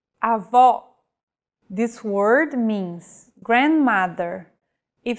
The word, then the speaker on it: avó: Vowels with the acute accent will be stressed and pronounced with open pronunciation. Avó.